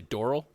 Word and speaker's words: Doral: what did i say doral yeah yeah you right like coral yeah which is how